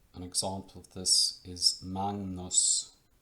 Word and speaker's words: magnus: a similar phenomenon here if this g comes before an n then it is pronounced like ng so an example of this is magnus magnus and that's how you